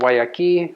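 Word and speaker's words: Guayakí: one I drink the most it's U called Waki is how you pronounce that it's an American brand it's dried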